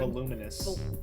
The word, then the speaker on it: voluminous: Voluminous. Is that really how it's pronounced? Yeah, it's like luminous, but with a V.